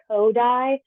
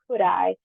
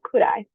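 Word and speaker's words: Kodály: of Americans pronounced it kodai um it's pronounced kudai as in how could I not use Solfege while I'm teaching music so could I so to give a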